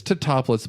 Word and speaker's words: Tatopoulos: from Italy and agrees you just pronounce the letters it's Tatopoulos but to top a